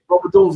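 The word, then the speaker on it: Rome Odunze: The young kid they drafted, I don't want to mispronounce his name. Roma Dunzier. Roma Dunzier, there you go.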